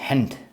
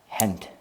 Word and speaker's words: Gent: I think you need to say Gent, right? The G's are pronounced like H. Gent.